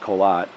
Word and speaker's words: Korat: colat is k o r a t but pronounced colat um you know in this region because it